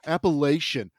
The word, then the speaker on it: Appalachia: little bit more flexibility on the Appalachian comment where they say, Yeah. I hate when they go Appalachian. Fuck off. Okay. That's our word. And it's Appalachia.